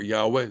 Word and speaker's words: Yahweh: say Adonai okay but it was probably pronounced yah or Yahweh so it goes like